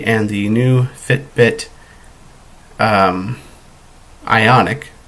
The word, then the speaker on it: Ionic: and the new Fitbit Ionic. I always keep saying iconic. Can't tell you how many times I've pronounced that wrong.